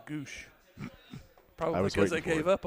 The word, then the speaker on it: Gwosdz: It was spelled Gwosdz. They pronounced it Goosh.